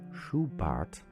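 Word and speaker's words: Schubart: to the German chalis of the last century shuart this is spelled s c h u b a r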